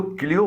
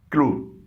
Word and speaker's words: clue: کلو اس کو کلیو مت پڑھیے گا, اس کی صحیح پروننسیشن ہے کلو.